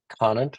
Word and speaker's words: Conant: And I love the story of Doug Conant. Is that how you pronounce it?